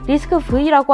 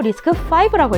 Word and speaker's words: RISC-V: 리스크-V라고 안 읽고 리스크5라고 읽습니다.